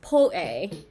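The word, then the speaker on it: po'e: is like more widely used exciting let's see pull a is a dish in like it's a dessert in Eastern Polynesia so it's it's spelled like po ke but it's pronounced pull a or or it's P Oh ' E and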